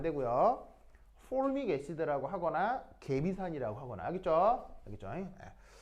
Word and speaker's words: formic acid: 근데 영어식 표현은 자 발음 한번 해볼까요? formic acid 시작.